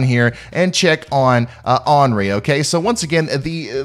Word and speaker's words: Henri: and check on uh anri okay so once again the the correct pronunciation here is onri um the the h is uh silent i guess or henry